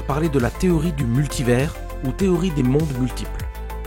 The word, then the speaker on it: multivers: Ah, et on prononce multivers, pas multiverse.